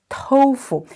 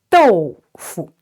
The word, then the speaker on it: 豆腐: And in Chinese, we not pronounce tofu. It's 豆腐, D-O-U, 豆腐.